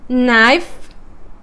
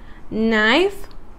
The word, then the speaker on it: knife: Knife, new. Okay, if you pay attention, that K doesn't have any sound.